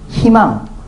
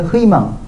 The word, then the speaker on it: 희망: 그런데 다만 자음을 첫소리로 가지고 있는 음절의 의는 이로 발음한다 그랬어.